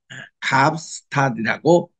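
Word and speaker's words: Kaapstad: 케이프타운은 남아공의 입법 수도로서 아프리카스 카스타이라고 발음을 하고 또 카파라 그렇게 부르는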